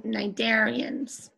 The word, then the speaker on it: cnidarians: number one you're writing cnidarians and you don't pronounce that C at the beginning it's silence so cnidarians